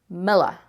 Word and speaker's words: Milla: To me, that says Miller, as in Miller. That's just how we pronounce it, Miller.